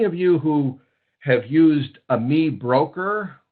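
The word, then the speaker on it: AmiBroker: you who have used Ami broker or sometimes I hear a pronounce Amy broker um that is uh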